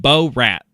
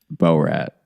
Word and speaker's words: Borat: You the first few times you said bor rat and that is just not how it's pronounced. Bo rat.